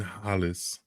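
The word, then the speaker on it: Halys: Quentin Hollis, actually. I think that's how you pronounce it. Alice, because the H is silent in French most of the time. But yeah, Quentin Alice.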